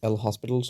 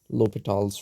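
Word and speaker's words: L'Hôpital: this under the name l hospital's rule though the guy was french so it's pronounced in my horrible imitation of how it should be pronounced it's pronounced l'hopital's rule okay since we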